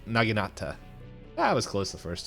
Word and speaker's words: naginata: ago oh Knight told us it's a n naginata that was close the first time I know